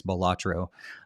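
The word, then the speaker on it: Balatro: we got B batro is that how you pronounce that they never talked about it they didn't actually say it in the the presentation so I'm going to guess here I think it's batro um friends of Jimbo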